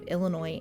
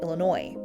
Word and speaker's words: Illinois: to use today and it's why the S at the end of Illinois is silent unfortunately for the elinc by the early 1800s their population in Illinois had been reduced to